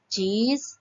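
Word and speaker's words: चीज़: नहीं है यहाँ पे, चीज, चीजें। ज के नीचे बिंदी है, सही उच्चारण करके हम पढ़ेंगे।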